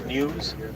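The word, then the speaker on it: gnus: they're also known as news that's because of the the sound that they make written G and U pronounced you there's another giraffe up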